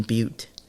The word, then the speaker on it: Butte: And I still thought it pronounced but.